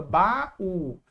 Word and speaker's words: baú: Para não ficar bau, fica baú. Para não ficar paraiba fica paraíba. Para não ficar pais, fica país.